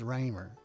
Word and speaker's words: Reimer: Paul's notes say Reimer rhymes with gamer. So it's Raymer.